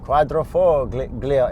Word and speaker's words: Quadrifoglio: vo Quadrifoglio so much what the folio Quadrifoglio is there G in there oh there's a silent G I believe so hands